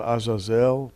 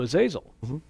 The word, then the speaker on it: Azazel: one of them is called Azazel sometimes pronounced asel or their number of different pronunciations but but he seems